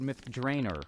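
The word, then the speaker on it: Myth Drannor: we're talking all about myth drer or as I said myth drainer when I was in this idea to Ed Mr Greenwood ever gracious reminded me that it's probably pronounced that way somewhere in the Realms right so uh go ahead and keep that one in your back pocket next time you can't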